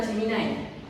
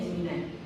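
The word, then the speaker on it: Gemini: Terus yang kedua adalah Jiminai. Tulisannya diini tapi bacanya Jiminai.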